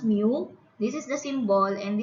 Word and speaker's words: mu: 12 letter of the greek alphabet which is pronounced mu this is the symbol and this one denotes